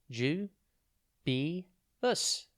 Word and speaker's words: dubious: time today's word is dubus it's pronounced ju B bu and it's spelled d u b i o u s think dub then the letter I and then us dubius has two meanings